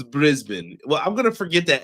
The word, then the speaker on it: Brisbane: It's pronounced Brisbane, not Brisbane.